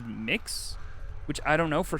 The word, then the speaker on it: Mx: and generally accepted is M X which I choose to pronounce as mix which I don't know